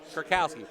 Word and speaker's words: Kurkowski: I'll let you pronounce that name. 44? Yeah. Oh, Luke Kurkowski, excuse me. Kurkowski.